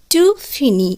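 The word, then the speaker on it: finis: তাহলে ভার্বটি উচ্চারণ দাঁড়ালো জো ফিনি, উচ্চারণ কিন্তু একই থাকলো, অর্থাৎ আমি শেষ করি। ফিনি শব্দটির অর্থ হচ্ছে শেষ করা। টু ফিনি, এক্ষেত্রেও ই এস যুক্ত হলো, টু ফিনি অর্থাৎ তুমি শেষ করো।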